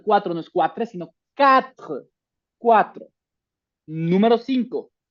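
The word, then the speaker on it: quatre: La Q y la U van a tener un sonido de K. Por eso no es cuatre, es cat porque esta u como que no se pronuncia como en el español no dices cueso, dices queso.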